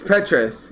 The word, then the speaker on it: Petrus: I think this is a hard name to pronounce, but it's Petrus.